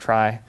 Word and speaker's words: trie: The word trie comes from retrieval, from old days when information retrieval was what's now called, I don't know, web searching or whatever. But now it's pronounced trie. It's just another word for tree, but where the children